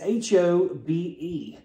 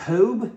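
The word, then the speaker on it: Hobé: a brand name and it's h-o-b-e that is not hoobe it's not Hobie it's Hobe I believe now I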